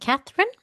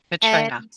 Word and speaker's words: Caitríona: female and I believe her name is we're going to pronounce it Katherine. Katrina. Katrina. Sorry, Katrina. Sorry, it's okay.